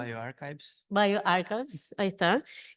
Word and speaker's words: bioRxiv: afiliado del servicio de preprints Bio, ¿cómo se pronuncia? bioRxiv.